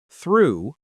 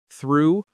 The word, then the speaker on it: through: But listen to how they're pronounced: though, through, thought, and tough. 4 different sounds from the same group of letters.